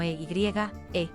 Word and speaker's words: eye: convirtiéndose en la norma los filólogos estiman que se pronunciaba como eye en la época del inglés medio temprano pero la pronunciación pronto se debilitó ahí el gran desplazamiento vocálico que desencadenó un enorme cambio en el sistema vocálico inglés entre los siglos XIII y XV condujo a la pronunciación actual Ay y ha permanecido